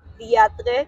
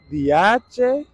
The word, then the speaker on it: diantres: ¿Cómo? ¿Cómo se dice? Diantres, qué chavienda. ¿Diache? Diantres. ¿Diantres?